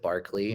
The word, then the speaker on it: Barclay: you uh on Instagram Barkley DOD I know that we pronounce it Barkley but it's actually spelled barlay b a r